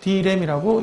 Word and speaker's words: direm: 신규 브랜드를 이게 D램이라고 이름을 붙였습니다. 256메가 D램 할 때 그 D램하고 어쨌든 발음은 똑같습니다.